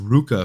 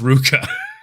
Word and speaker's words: RVCA: supposed to be pronounced Ruka for some reason for years um so yeah RVCA is supposed to be pronounced Ruka it's weird because it's a v but it's it's Ruka sport I don't know